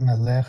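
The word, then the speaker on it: מלך: Eloheinu melech haolam. All right. And melech, accent on the first syllable.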